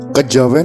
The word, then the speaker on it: Kejawen: Kejawen adalah kata bentukan yang berasal dari kata kejawian dengan Keluwesan lidah orang Jawa diucapkan menjadi Kejawen kejawean hakekatnya adalah suatu